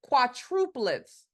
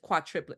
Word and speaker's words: quadruplet: oh okay quads oh quadruplets I said it wrong I said quatri quadruplet you know what I